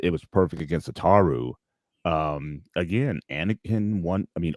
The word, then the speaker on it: Ataru: Ataru. That's Ataru. so Thank that you.